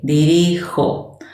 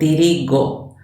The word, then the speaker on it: dirijo: That G from dirigir changes to J, dirijo. Why? Because if we didn't change it, it would sound dirigo. And the verb is dirigir with a soft G.